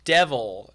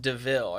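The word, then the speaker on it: de Vil: part where the guy's like oh it's it's devil and his friend's like oh it's pronounced deville and they're talking about the car deville is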